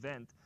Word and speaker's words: Wendt: Gunter Wendt, it's spelled Gunter Wendt, as we would say in America, but it's pronounced Wendt.